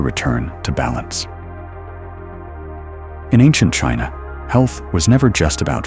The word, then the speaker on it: qi: In ancient China, health was never just about flesh and bone. It was about energy. The invisible life force called qi, pronounced chi, flowed through all living